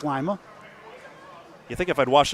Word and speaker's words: Lima: to being hello Mason is that pronounced Lima or Lia lima beans like lima Lia Ohio Lima Ohio I think it's Lia you think if I'd